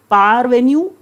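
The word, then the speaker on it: parvenu: भी याद हो जाएगा पार वेन्यू पार पार कौन सी बार पीओ डब्लू ई आर कि उसके पास एकदम से पावर आ गई that power which is pronounced as पार इसीलिए आपको बता रही हूं थोड़ा सा पार एन्यू को पार्ट से जोड़िए नेक्स्ट वर्ड ओटीयोस है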